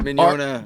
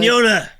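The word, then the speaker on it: Mignogna: first agent that I signed with looked at the last name and he couldn't pronounce it because it's got two silent G's because it's like spelled like mignon, like douche.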